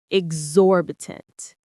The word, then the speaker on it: exorbitant: Exorbitant. The stress is on that second syllable, exorbitant.